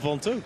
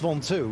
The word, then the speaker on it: Ventoux: Especially if it has to climb the Mont Ventoux. Yeah, and we're on here. Is that, it's still pronounced Ventoux?